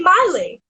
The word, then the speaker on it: Miley: It's Miley with the my, not Millie with the me, cause Millie with the me goes it all night.